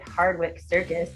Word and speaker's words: Hardwicke Circus: rock news uk and i am here with hardwick circus did i pronounce that right that's right we've had a